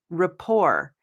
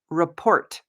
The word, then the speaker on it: rapport: And also, you can try or practice pronouncing this word with me rapport. It looks like it would be pronounced report, but we do not say the T. The T is silent.